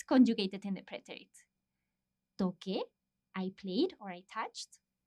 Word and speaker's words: toqué: Because if we didn't change the C to QU, it would be toce with that sound, the TH sound. So, toqué. In order for us to maintain the same pronunciation as the infinitive, we need to change